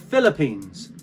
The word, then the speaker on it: Philippines: Okay, it's not, it's Philippines, as if it was an F. Very simple, nothing hard about that. Just replace PH with an F.